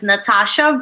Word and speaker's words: Nathasha: But my artistic name is my real name, which is Nathasha. So watch out, Greg. There's a silent H after the T, just so you know.